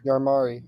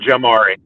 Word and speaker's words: Jamari: Yarmari. I think it's Yarmari. Yarmari. Yeah. It's pronounced Jamari. Jamari. It's pronounced. Yeah, it's Jamari. Yeah.